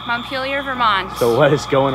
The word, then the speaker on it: Montpelier: town how do you say this town's name Montpelier Montpelier Vermont so what is going on out here